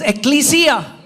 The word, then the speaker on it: ecclesia: The Greek say ecclesia. और जो यूनानी लोग हैं वो एक्लीसिया. Say it like this. Ecclesia. बोले एक्लीसिया. Come on, guys. एक्लीसिया. We are teaching you the right pronunciation.